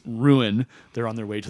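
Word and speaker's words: Rouen: road to ruin which it's spelled r o uen but the way they say it is ruin they're on their way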